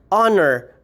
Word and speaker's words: honor: for example the word honor hour and herb you would still be using your n article because there's a silent h particularly acronym i am